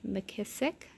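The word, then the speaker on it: McKissack: Away Home by Scholastic or you know Patricia mckissick that's how you say it and then if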